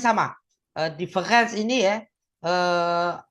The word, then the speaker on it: différance: Eh, difference ini ya eh A-nya kan baca seperti e difference ya sehingga menjadi monumen bungkam ya.